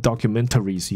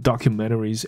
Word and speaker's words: documentaries: major broadcasters，所以替这些，哦，很大的这些广播公司呢，他们会去提一些纪录片跟一些这种影集剧集系列剧的这种的这些案子，OK， pitching documentary。那我刚练了两次这个纪录片，我都是用比较北美的念法，它的 T 都不见掉，所以 documentaries。你当然念成 documentaries 也是绝对 OK 的啦，OK。So 再读一次，I work for a successful production company pitching documentaries and series for major broadcasters。OK，那他一直以来他就已经用了 ChatGPT 来写他的这一些